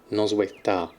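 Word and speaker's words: Noswaith dda: What's DDA? Is that just da? Is that how it's pronounced with the silent first D? Noswaith da.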